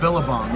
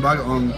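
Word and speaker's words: bagoong: Billabong. You eat it with some billabong. No, you get some bagaong.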